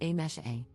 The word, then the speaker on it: Amise: For context, my name is written as Amise, but is pronounced as A-mesh-A.